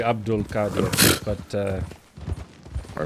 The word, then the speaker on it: Abdul-Qadir: you can pronounce it it's technically Abdul Kad but uh all right